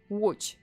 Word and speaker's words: Łódź: And yes, this name, this horrific name of the city is pronounced as Łódź. Okay, so Łódź is the third largest city in Poland.